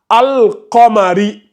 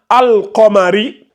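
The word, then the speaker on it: القمري: Par contre, ici, on va lire al-qamari. Tu vois, on prononce bien le lam avec le soukoun. Ça donne al. Tu ne vas pas dire al-qamari. Ce serait faux. Donc, quand le soukoun est sur le lam, on prononce bien le soukoun. Ça donne al-qamari.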